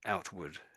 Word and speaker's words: outward: So, it's got ward on the end, but we don't say ward. We actually say wood as if it was w o d.